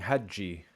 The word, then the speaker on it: حجي: I swear حجي حجية he's not saying Hajji, which is exactly what is described in chapter 1 and the note on sociophonetics.